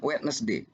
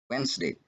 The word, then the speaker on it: Wednesday: Bacanya ini bukan Wednesday. Dan ada kata Wednesday sebenarnya dalam bahasa Inggris. Yang benar adalah Wednesday. So remember, in this case, the sounds the, ya suara the ini hilang. Jadi dia tidak diucapkan.